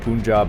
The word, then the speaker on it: Punjab: states Punjab and Chennai, which is pronounced Pun. Okay, this isn't helpful, this pronunciation. P-U-H-N. I would pronounce that Pun. I would too. Pun, as in the word pun. You don't phonetic it P-U-H-N, and jab, as in boxing jab.